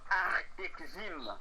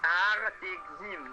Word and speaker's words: Artexim: écrit L'infortune et l'itinéraire d'un adolescent Ok, aux éditions Artexim, qui se trouve en Roumanie.